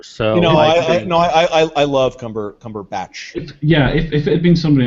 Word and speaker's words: Cumberbatch: Actually, can the British people tell me how you pronounce his name? Cumbucket? Cumbucket? Like, how do you... Cumberbatch? Cumberbatch. Cumberbatch, yes.